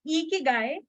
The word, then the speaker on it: ikigai: Ikigai, again to mention, where most of us lack in pronouncing it in a right way, it is Ikigai.